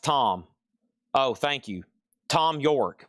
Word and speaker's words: Thom: Was I saying Thom again? Did Has somebody let him know they he misspelled his name? Dude, somebody get a hold of Tom York and be like, "Hey, buddy." Radio Head dude. Radio Head dude. Hey, you misspelled your name. You put a You left an H in there accidentally. Let's go over here.